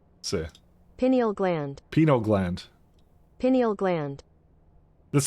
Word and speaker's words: pineal gland: pie I thought I thought it was called penal gland Pinal gland okay okay hold up hold up penal gland pronunciation see pineal gland Peno gland pineal gland that's that Pine is